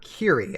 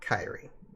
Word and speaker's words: Kyrie: kite the Kyrie or Kiri I need I need to remember that it's Kiri not not kairi even though I'm sure like either way but I know the official is Kiri um I know we